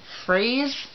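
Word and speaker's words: Freize: And also they're traveling with his servant and his friend, Freyze, I believe it's called, is how you pronounce it, F-R-E-I-Z-E.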